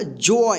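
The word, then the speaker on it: joy: तो यहां पे रूल में देखिए कि जब किसी वर्ड के अंत में ओ वाई एक साथ रहता है तब ओ वाई का उच्चारण ओए होता है।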